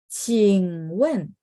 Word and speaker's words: 请问: Terus cing-nya itu Q, bacanya ada angin ya.